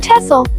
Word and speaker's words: Texel: Number 4 is the island of Texel, pronounced Texel, a place of wind, water, and wide open spaces.